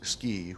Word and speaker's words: SCI: You'll note that the acronym SCI is pronounced SCI, which is appropriate for Utah.